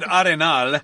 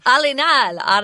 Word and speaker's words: Arenal: I said Arenal. Arenal. Based on my knowledge of Spanish, but they might say it a different way. No, go with that. I'm sure it's correct.